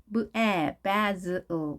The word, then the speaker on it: basil: basil, basil, basil. z 발음인데요. 스펠링이 어떻게 되는지 볼까요? 혹은 basil 두 가지 발음 다 가능합니다. basil, basil. 자, s가 양쪽에 모음이 있게 되면 z 발음이 난 거죠.